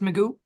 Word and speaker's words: Magoo: You said your last name is pronounced Magoo.